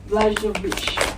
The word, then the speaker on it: Blažević: So please put your hands together to welcome Miss Dina Blažević. Hi, good afternoon. Thank you, MC. Very good pronunciation of my surname.